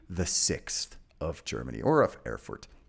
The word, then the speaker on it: Erfurt: And we're going to the city of Erfurt in Germany, or what is now Germany, right? Erfurt. Okay. So I could pronounce it a little more German, Erfurt. It's not going to sound good.